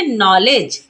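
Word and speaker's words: knowledge: पढ़ेंगे के सेलेट हो जाएगा तो क्या पढ़ेंगे नॉलेज नाइट नाइट में भी के एन से पहले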